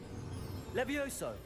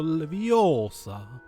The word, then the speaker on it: Leviosa: Levioso! Nie, Rone. Vyslovuješ to špatne. Je to Leviosa.